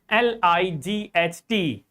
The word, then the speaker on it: light: My dear students, so g h like light l i g h t Think that like there is only l i t light. There is no g or h. So, there is no sound.